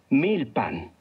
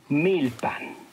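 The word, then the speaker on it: milpan: pan escuchaste con atención 1000 pan recuerda que en el náhuatl las palabras se hacen todas en la penúltima sílaba miltar muy bien ahora ya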